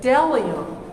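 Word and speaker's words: bdellium: has an appearance of delium the bee in delium is silent and there are only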